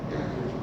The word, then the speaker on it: Jan Hus: Ese sí lo puedo pronunciar. Jan Hus.